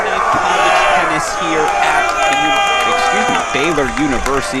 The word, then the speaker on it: Baylor: It's Baylor University.